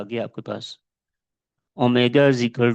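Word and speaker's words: omega: ये Greek letter है, इसको प्रोनाउंस करते हैं ओमेगा।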